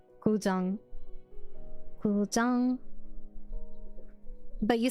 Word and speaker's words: Guzheng: How do I listen to the correct pronunciation? Guzheng.